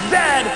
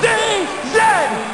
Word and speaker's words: Z: a Chesterfield is a coach and it is pronounced Zed not z z Canada is the second largest land mass the